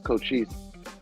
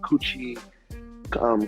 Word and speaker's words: Cochise: will always be called kuchi kum all these things because my name is cochise jr and they they can never say it so i'll be like